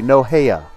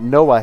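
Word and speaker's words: Nohea: noah anderson let's see i gave her four syllables it should be three no heya not noah heya she's one for two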